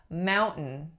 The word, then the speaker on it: mountain: so you will hear a glottal stop often in American English if the sound right after is what's called a syllabic n that's a really heavy end that carries the weight of a whole syllable so if you have Mountain mountain or Clinton Clinton or button-button those are all glottal stops followed by an sound now if you are